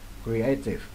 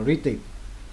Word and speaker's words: creative: Có nhiều em đọc là gritty. Gritty. Sai. Đây là trong đây nó có hai âm tiết đây này. Creative. Vậy, đây là nhấn phần hai creative nha.